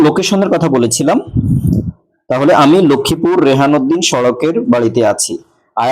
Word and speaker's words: লক্ষ্মীপুর: এরপরে তার চেয়ে বড় জায়গা হচ্ছে যে লক্ষ্মীপুর, এই জন্য ইন লক্ষ্মীপুর। যদিও এটা অনেকে উচ্চারণ লাক্ষ্মীপুর বলে, প্রতিবর্ণীকরণের নিয়ম অনুসারে লক্ষ্মীপুর লক্ষ্মীপুরই, লাক্ষ্মীপুর না।